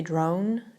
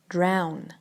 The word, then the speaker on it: drown: tanuchi for some reason many people say drone drone maybe because it's o in the middle but you should say drown drown the man was drowning